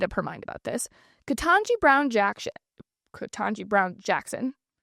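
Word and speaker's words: Ketanji: Katanji Brown Jackson, Katanji Brown Jackson, that's how you say her name.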